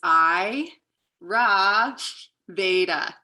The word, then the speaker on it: Ayurveda: word is a sanskrit word and how it's pronounced how i remember it is i ra veda so i ra veda you can repeat it